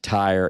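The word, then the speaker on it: Tyre: te or Tire t y r e we pronounce it Tire in most English uh communities I've been part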